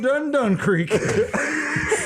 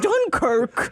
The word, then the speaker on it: Dunkirk: I haven't been felt this much upriver since we've been up Dun Creek. It's pronounced Dunkirk.